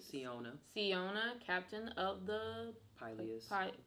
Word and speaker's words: Siona: Alright, so this is, how do you pronounce her name? Like Siona.